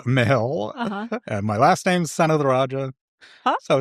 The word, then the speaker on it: Senatheraja: Senatherajah. It's like son of the Raja.